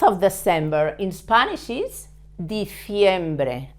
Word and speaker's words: diciembre: The month of December in Spanish is diciembre. Again, the C with an I.